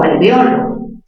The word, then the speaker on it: alveolo: Pero si pronuncias alveolo, ¿dónde está la mayor fuerza? En O. Sería una palabra grave. Grave terminada en vocal, no se tilda.